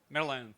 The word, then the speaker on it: Merlion: Merlion.